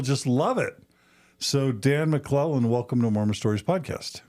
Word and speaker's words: McClellan: my mission because uh four consonants in a row are difficult for some folks to to pronounce so it usually came out as makakalation down in Uruguay and so I would spell it that way and and it came out McClellan which was a lot easier and I got home